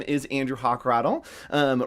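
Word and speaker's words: Hochradel: my name is andrew hochrattle um right up there that's my name it's pronounced hawk and rattle oh let's cover the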